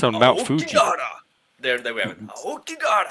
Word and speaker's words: Aokigahara: It's well, I can't pronounce it. Aoki- It's Akogahara, the Sea of Trees. Aokigahara. It's on Mount Fuji. Aokigahara.